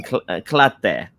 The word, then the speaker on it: Kelantan: another, Okay, to Abu Kelantan. Muaz. Yeah, invite her to Kelantan. Klate, we mention it. We pronounce it in Klate.